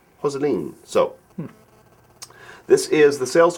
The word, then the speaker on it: Jocelyn: So, and apparently Jocelyn is pronounced Hosseline. Hosseline.